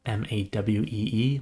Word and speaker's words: MAUI: I know it's kind of pronounced MAWEE, like the island, but MAUI is MAUI, as well as the .NET blog.